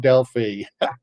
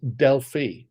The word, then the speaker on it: Delphi: The Greeks tell me that it's pronounced Delphi. And they always think it's funny when it's said Delphi.